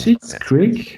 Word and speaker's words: Schitt's Creek: Schitt's Creek. I'm looking. Yeah, it's spelled SCHITT.